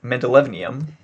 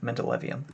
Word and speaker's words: mendelevium: see uh anyway so we have uh mendeleev mendelevnium gosh i must pronounce that mendelevium and we're gonna get rid of that because